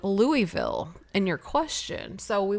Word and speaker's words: Louisville: give you a tip the locals say Louisville you say it like you're just so put out with did jealously where she's from I don't remember okay I think she did I think she said Illinois okay but yeah I don't have the transcript in front of me um but yeah you have to say it like you're just really lazy and put out with the world I'm going to Louisville